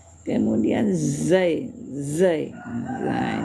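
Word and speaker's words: ز: Kemudian zai. Zai. Zah. Ini tidak sama dengan dalal tadi ya. Zai itu ada tekanan juga bacanya ya.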